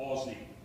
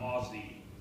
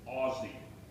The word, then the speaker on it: Aussie: you got to it Aussie like uh Oz um that band aie whatever his name is not oie Aussie so hopefully I pronounce